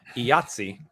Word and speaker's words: IATSE: seen this this uh how do we pronounce it it's i believe it's supposed to be an acronym but a lot of people call it yahtzee or iot yeah that is this